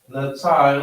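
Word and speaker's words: נטה: Natah.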